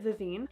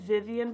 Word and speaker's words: Vavine: So I'm gonna take a Sigma E28 in the shade Vivian. I think I said Vivian before, but I just Googled how to say it. It's Vivian.